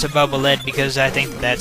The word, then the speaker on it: Bubble Lead: I think that Bubble Man's weapon is actually supposed to be pronounced Bubble Lead, as in follow the leader after its utility function, since it goes out in front of you and detects hidden floors.